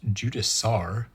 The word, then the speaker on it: Judicar: He comes on the big fancy Necron sprue like the Judicar, or as it was pointed out, might be pronounced Judiciar, like judiciary.